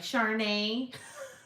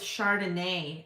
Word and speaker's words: Chardonnay: correct me when i was like charney excuse me so it's chardonnay okay well now i